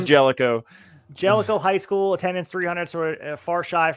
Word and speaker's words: Jellico: and also uh 226 from helico Tennessee I think I'm pronounced in that right I think the gist yeah it's Jellico around here just like uh Versailles